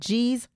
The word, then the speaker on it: geez: And geez rhymes with Louise.